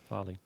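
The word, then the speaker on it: farlig: In um in in Norwegian it's Farig. F A R L L I G. Okay. You know, still counts pronounced Farley.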